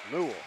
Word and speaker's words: Noel: Noel is pronounced Noel. Newell. Like N-O-L.